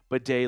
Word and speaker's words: Badie: which by the way some of you owe me an apology for correctly pronouncing his name b day last week but Today's Show is